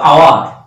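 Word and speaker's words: hour: এইচ ও ইউ আর, দেখো এইখানে এইচের উচ্চারণ নাই, এইটুকু আওয়ার, আমরা আওয়ার উচ্চারণ করি, এইচ ও ইউ আর আওয়ার, তার মানে এইচের উচ্চারণ নাই কোনো কোনো শব্দে আছে।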